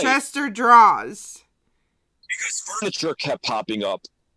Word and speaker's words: Chester Draws: My instinct is to say drawers. Because we have Chester Drawers, but I want to say it like, you know, that you put clothes in, like a dresser drawer, Chester drawer, but it's Chester Draws, and he's at 294.